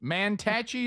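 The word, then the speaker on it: Mantachie: Manachi that's how you say it. Manachi Mississippi.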